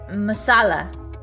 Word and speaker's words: masala: You emphasize the second syllable. Oh, tik masala. Ah, masala. Ah, I see. I see. It's not masala. It's masala.